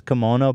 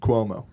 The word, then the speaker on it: Cuomo: He goes, would Chris Kimono be given a red flag? Not Kimono. I don't know the fuck. How do you say that? Cuomo.